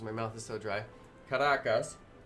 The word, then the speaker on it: Caracas: Caracas. Some people say Caracas. She says Caracas, and that's why I say Caracas.